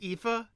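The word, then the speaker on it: Aoife: No, no, it's spelled A O I F E. EA. EA. Yeah. And that's pronounced EA.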